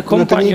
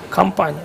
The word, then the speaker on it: кампанія: Не компанію, а кампанію. Зараз напишіть в коментарях, він не знає, як слово компанія вимовляється. Кампанія, кампейн від англійського.